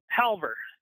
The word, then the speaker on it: Halvor: Am I pronouncing that right? Yep, Halvor.